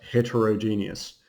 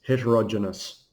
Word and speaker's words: heterogeneous: by the way but that doesn't say genius that isn't pronounced heterogeneous it's heterogeneous that actually says Janice I don't know why